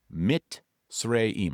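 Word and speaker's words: Mizraim: It's spelled m i z r a i m, but it's actually pronounced m i t and then s r a y mitim.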